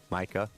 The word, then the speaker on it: Micah: thank you sir tokes it's Micah it's not that hard Micah Parsons Micah yeah two syllables my name is yeah